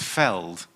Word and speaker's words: veld: And he tells me that it's veld.